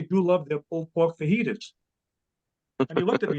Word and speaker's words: fajitas: I really do love their pulled pork fajitas." And he looked at me and said, "Dad, it's pronounced fajitas."